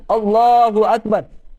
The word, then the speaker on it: اللہ اکبر: ہم اللہ اکبر کہتے ہیں اس کا صحیح تلفظ کرنا، صحیح پروننسیشن، اللہ اکبر، یہ اگر کہیں گے صحیح طرح سے تو